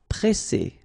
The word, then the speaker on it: presser: So double S, so the sound is really strong, S. And then because you've got this double S, then it will open the sound of your E, and you will get E. Presser, presser. Confier.